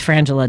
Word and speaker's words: Frangela: teasing me he's like it's frangela don't say it wrong it's frangela they're the comedy dude and